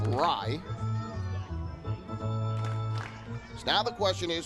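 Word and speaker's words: Rei: r e r-e-i so initially i thought it was pronounced austin ray but it's actually pronounced rye so now the question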